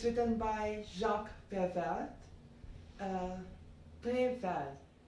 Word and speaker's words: Prévert: Prévert. If you speak it in English, then you're pronouncing the T. Then you will be saying Jack. Okay, so Jacques Prévert or Jacques Prévert.